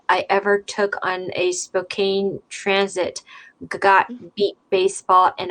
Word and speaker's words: Spokane: How is it pronounced officially? Spokane.